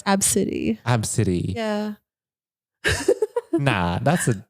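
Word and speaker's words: Abcde: a little girl was spelled a b c d d and pronounce absidy absidy yeah nah that's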